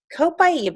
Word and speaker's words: Copaiba: Copaiba, and that's how you say it, co with a pi in the middle and then iba.